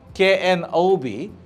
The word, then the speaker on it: knob: that is knle Knob k n o b knob but but KN i f e knif most of the cases we get K when K is followed by n k is silent uh P silent P